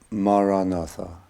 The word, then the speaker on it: Maranatha: The word again I would recommend is the word Maranatha. 4 syllables, Ma, Ra, Na, Tha.